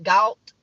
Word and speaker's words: Galt: In Galt, it's spelled like salt, but with a G, Galt.